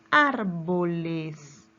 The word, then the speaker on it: árboles: Y la siguiente palabra es árboles. Separamos en sílabas la palabra árboles. ¿Dónde lleva la mayor fuerza de voz? Árboles. Bien, en ar, ¿verdad? En la antepenúltima sílaba.